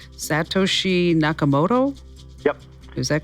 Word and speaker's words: Satoshi Nakamoto: I don't know if I'm going to pronounce the guy's name right. Satoshi Nakamoto?